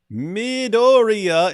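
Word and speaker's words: Midoriya: uh I get it midoria is pronounced as Midori why is everyone breaking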